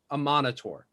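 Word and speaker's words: Amaunator: So you know that the House of the Morning Lord worships the god Aminator. Aminator, yeah. Let me make sure I got the pronunciation. Illuminator. Amanator. Amanator.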